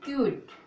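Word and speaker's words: cute: तो इसको पढ़ेंगे क्यूट, क्योंकि ई का कोई उच्चारण नहीं होता है।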